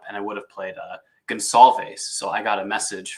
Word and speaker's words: Gonçalves: I would have played Gonçalves. So I got a message from our friend Big Z. I think he sent me a DM. It's Gonçalves, not Goncalves. So I learned something new every day.